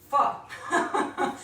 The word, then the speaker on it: pho: it's actually pronounced pho, F-U-H. And the way I think best of it, because I like to make everything funny in a game, I just, for this, it's like fee, fi, faux, meaning false, pho.